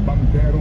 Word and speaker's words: banchero: Ito nga pati nga si Kuya Al Mendoza, sabi nga na dito, bangkero nga ang bigkas sa banchero.